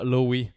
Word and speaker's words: Lowe: Lowe, L-O-W-E. Rob Lowe. On prononce pas le...